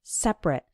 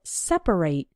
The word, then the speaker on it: separate: separate or separate now when the word is used as an adjective then we pronounce it like separate for example men and